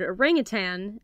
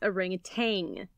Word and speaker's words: orangutan: have it entered as orangutan though if you do pronounce it orangutan don't feel like you're wrong the word comes from the Malay language the word arang means